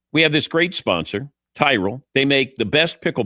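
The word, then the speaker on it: Tyrol: It's Tyrell Pickle Ball Shoes. You spell it T Y R O L. Tyrell Pickle Ball Shoes.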